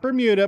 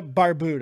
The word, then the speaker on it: Barbuda: Not Bermuda, Barbuda.